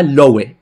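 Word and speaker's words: Loew: Lo puedes deletrear yudá lowe.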